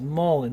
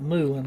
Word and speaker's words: mullein: That's the pronunciation of it is mullein, not moolin like I was saying.